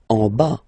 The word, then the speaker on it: en bas: En bas, final S not pronounced.